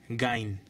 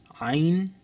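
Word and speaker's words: عين: আইন বলে কিছু নেই আইন শক্ত করে বলতে হবে একটু কঠোর করে বলতে হবে জিনিসটা আইন তারপর বাংলায় বলে এটাকে গাইন কিন্তু আরবিতে সঠিক উচ্চারণ হচ্ছেন আইন আইন বারবার চেষ্টা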